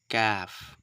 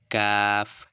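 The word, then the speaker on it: كاف: দিতে হবে কি Caফ কাফ ঠিক আছে এভাবে করে উচ্চারণ করতে হবে কাফ কাফ মানে হচ্ছে এই কাফ উচ্চারণ করতে গিয়ে আমাদের জিহবা একদম মাঝখানে কিন্তু থেকে যাচ্ছে কাফ কাফ একটু করে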